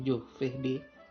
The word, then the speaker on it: giovedì: Lunedì, Monday, martedì, Tuesday, mercoledì, mercoledì, Wednesday, giovedì, tulisannya geo, tapi bicaranya giovedì, Tuesday, Venerdì, Friday atau Jumat, Sabatoh, Saturday.